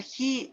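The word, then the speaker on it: χ: Ya, eso es de hecho se pronuncia Ji, es letra griega, ¿ya?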